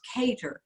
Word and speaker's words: Keator: One correction, it's Alice Keator. Keator. Keator, not Keator.